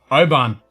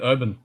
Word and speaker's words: Oban: Because you're not really supposed to pronounce the W, basically. Actually, she did Oban. She did it right. She did Oban.